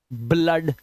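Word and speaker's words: blood: ब्लड आ की आवाज ब्लड आ की आवाज हम ये क्या है?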